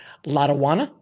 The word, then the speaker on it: Lotawana: Now, if I pronounce it correctly, Lotawana.